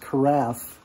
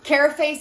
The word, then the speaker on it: carafe: dictionary care English language states that that is pronounced carafe that's what everybody knows some solution care face sounds more fancier so more fancier there we